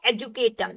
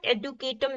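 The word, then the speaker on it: educatum: अब तीसरा शब्द है एजुकेटम, या इसको हम एडुकेटम भी बोल सकते हैं। ये सिर्फ प्रोनाउंसिएशन का डिफरेंशिएशन है, उस पर आपको नहीं जाना है, मतलब आपको समझ आना चाहिए।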